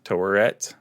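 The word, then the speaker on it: Taweret: they're still in the asylum they meet um toret torret is that how you say that i i'm really bad at pronouncing that no you got it i heard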